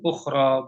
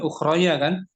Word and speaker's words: أخرى: kan bentuknya ya n tapi dibaca Alif kan ukhra bunyinya bukan ukhrya kaninya Alif suaranya Suara Alif ukhro bukan ukhroya atau ukhrou bacanya Alif panjang ukhro disebut Alif maksurah ukhroan